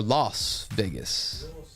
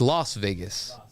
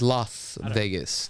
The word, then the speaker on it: Las Vegas: I got ad is it Las Vegas or lost Vegas it's Las Vegas right I believe it's l it's Las Vegas that's how you pronounce it technically but um where was I